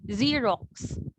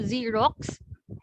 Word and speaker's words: Xerox: are sounded out differently for the first x you pronounce it with your sound which is similar to how you sound out your letter z in xerox so although we spell